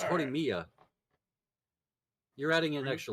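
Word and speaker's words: Horimiya: bit that's why I say isia no it's horia you're adding in extra letters remember the I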